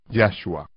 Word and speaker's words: Yahshua: de Miriam les dijo, llamaréis su nombre Yahshua, con énfasis en Yah, como es el caso de todos los nombres hebreos.